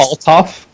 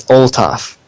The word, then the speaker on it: Althoff: You kind of said it correctly. You just pronounced the beginning really awkwardly. Like it's Althoff? It's Oltoff.